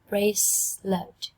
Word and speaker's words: bracelet: Bracelet. Từ này có 2 âm tiết thôi các em nha.